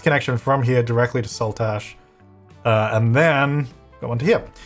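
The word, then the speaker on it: Saltash: continued this way - heck someone allow the salt ash on the border between Cornwall and Devon in the UK you're pronouncing it perfectly sweet that's good to know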